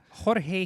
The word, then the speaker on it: Jorge: Jimenez or Jorge Jimenez who pronounces it Jorge humanists that's right I use the H sound for the first name you've already forgotten like